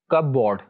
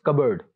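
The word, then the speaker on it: cupboard: Next word जो है इसको नॉर्मली लोग बोलते हैं कपबोर्ड. इट्स नॉट कपबोर्ड, इट्स कबर्ड. P silent, कबर्ड, कबर्ड.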